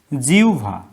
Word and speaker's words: জিহ্বা: এটা জিহ্বা না জিহ্বা কোনটা? এটা হবে জিহ্বা।